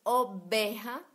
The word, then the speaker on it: oveja: Entonces tengan en cuenta que nosotros hispanohablantes decimos oveja a pesar de que se escribe con V chica. Sí, sería común para un hispanohablante decir oveja. Y hay que entender que no se escribe exactamente como se pronuncia, sino que se requiere conocer la escritura.